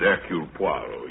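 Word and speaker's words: Hercule Poirot: If I may be permitted the one slight correction. My name is Eul Puarro.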